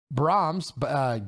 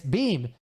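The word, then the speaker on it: Beahm: Disrespect, does he have to table the responsibility for Guy Brahms, Billy? Shit, why can't I remember his name? Guy, how do you say it? It's Beam.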